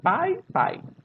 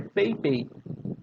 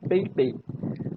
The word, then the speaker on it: Pei Pei: A primeira Garota Mágica dessa lista é a Pei Pei. Eu sei, a pronúncia parece pai, pai, né? Mas a escrita, né? Mas a pronúncia é Pei Pei, né? De peia. Pei Pei, tá?